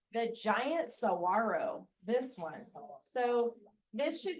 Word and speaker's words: saguaro: Giant, well, it looks like saguaro with a G, but it's actually a Spanish word, so it's pronounced saguaro.